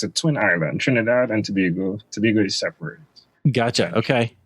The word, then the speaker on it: Tobago: And pronounced Tobago by the Tobagonians, yeah.